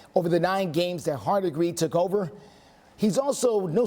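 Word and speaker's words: Hardegree: quarterback's coach position now I believe it's pronounced hard agree he has served as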